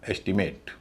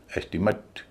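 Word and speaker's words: estimate: ए टी ई है अगर verb होगा तो उच्चारण होगा एट और पहले से लेवल पर भी स्ट्रेस होगा बोला जाएगा एस्टीमेट अगर यही नाउन हुआ तो एस्टीमेट नहीं बोला जाएगा क्या बोला जाएगा एस्टीमेट पहले पर स्ट्रेस दूसरे पर तीसरे पर एस्टीमेट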